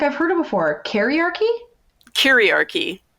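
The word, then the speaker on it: kyriarchy: heard it before kariarki curiarchy spell it oh yeah ask the dyslexic person to spell it it's like patriarchy but it's k y r curie ia okay okay but yeah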